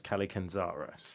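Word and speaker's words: Kallikantzaros: So I've read that as Kalikanzaros.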